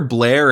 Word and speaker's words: Blair: So Jer, Blair, and Alistair, all rhyming with bear, of course, are 3 siblings